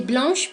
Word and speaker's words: blanche: Blanco, blanc pour les masculins et blanche pour les féminins. Ambas formas se pronuncian con la vocal nasal un, vocal producida por la siguiente combinación de letras AN.